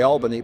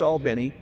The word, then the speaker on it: Albany: He would take Air Force One, they'd go down to Albany, which is how you pronounce it if you're from Georgia. Some of you would say Albany, but if you're from Georgia, it's Albany.